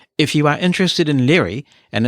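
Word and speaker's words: Lire: all very efficient if you are interested in L and its developer tells me that you pronounce it l it's French you know but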